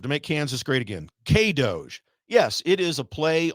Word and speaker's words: K-DOGE: K-DOGE. I'm getting a nod over there. Yes, that's how you pronounce it.